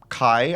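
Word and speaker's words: KAJ: And like I like Kai, I believe is the correct pronunciation.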